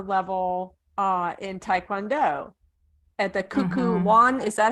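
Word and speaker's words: Kukkiwon: for her master level in Taekwondo at the Kuku Wan. Is that how you say it, Center? Kukiwan, yeah.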